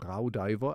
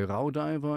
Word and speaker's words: Raudiver: to say it uh in German I would say ra because this is kind of au becomes an ow uh diver so R diver I I just pronounce